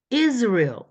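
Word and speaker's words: Israel: 영어로 읽는 걸 들어보니까 이스라엘이 아니라 is real is is real 이이라고 읽는다는 거 영어를 영어 발음대로 읽고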